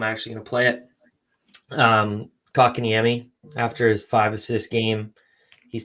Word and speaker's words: Kotkaniemi: Kotkaniemi. Kotkaniemi. Kotkaniemi.